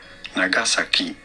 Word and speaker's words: Nagasaki: In Japanese, this is usually said as Nagasaki. Nagasaki. In English, however, it is normally pronounced as Nagasaki.